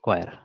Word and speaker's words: choir: উচ্চারণ হচ্ছে কয়ার এটা। তাহলে CHOIR কয়ার।